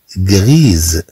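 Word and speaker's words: grise: طبعا عندما تحذف هاد أ لا تقرأ هاد أس، ولكن عندما نضيف أ خاصة بالتأنيث، ولكن عندما نضيف أ الخاصة بالتأنيث هاد أس ستوجد حينها بين دو فويال، وبالتالي ستقرأ كزاد.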